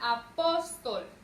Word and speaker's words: apóstol: La palabra apóstol. Vean, apóstol. Lleva su sílaba tónica en la penúltima sílaba y termina en consonante L.